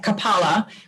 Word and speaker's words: kapala: forcing your diaphragm in it comes from the word kapala so the emphasis is on the second a kapala which means skull and